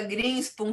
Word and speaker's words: Grinspum: Está correto a pronúncia do seu sobrenome? Como é que é mesmo? Greenspan.